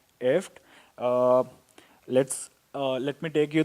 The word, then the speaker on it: IFTTT: is essentially pronounced if it's IFTTT and it's essentially pronounced as eft let's let me take